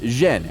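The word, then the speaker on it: 甄: In the Beijing dialect, his surname is pronounced Zhen, and Yen is the Cantonese pronunciation.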